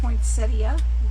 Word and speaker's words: poinsettia: So we're gonna make a poinsettia. That's how they say it. I always said poinsettia, but then it's spelled I-A.